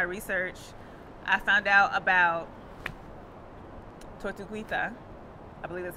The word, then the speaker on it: Tortuguita: And then something else that I thought was so interesting in my research, I found out about Tortuguita. I believe that's how you pronounce it.